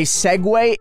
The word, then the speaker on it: segue: The word segue, as in a segue into a different topic, is not spelled segue.